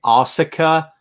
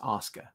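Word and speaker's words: Asuka: it's Oscar Nausicaa okay anyone out there is pronouncing ahsoka stop I know it's how it's spelt I get it school is spelled shul we don't call it shul okay stop it's Oscar all right live with it geez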